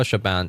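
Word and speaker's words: Siobhan: I know Shabban. Shabban Thompson. The name does not confuse me anymore. So I can I can pronounce it.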